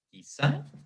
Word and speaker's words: quizá: Obviamente la palabra, la sílaba aquí es la sílaba átona y sa es la sílaba tónica.